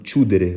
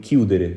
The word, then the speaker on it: chiudere: doon que parce que su ma ci bindul woon H prononciation bi dina doon chiudere waaye baat bi niñ ko waxee mooy chiudere kon bu fekkee ne ci